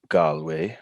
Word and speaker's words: Galway: I was in Galway.